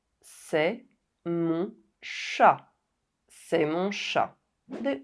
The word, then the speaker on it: mon: For example, mon. It ends with a silent N.